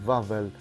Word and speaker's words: Wawel: from Wikipedia the vowel royal castle police pronunciation vavel the vowel hill on which it sits constitute